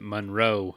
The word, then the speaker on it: Munro: there holy cow so i i pronounce it monroe how do you pronounce